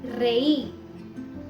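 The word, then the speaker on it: rey: Spanish में इसका pronunciation बहुत स्ट्रॉन्ग रहता है, र। जैसे रातोन, रातोन या फिर रेई। तो इसमें हमने रातोन या रेई नहीं बोला, हमने बोला है रातोन, रेई।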